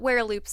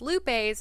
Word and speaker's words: Werelupe: episode 25 of neopian lore we're talking about were Loops this episode and I know many many many people refer to them as Lupes instead of Loops because of the spelling I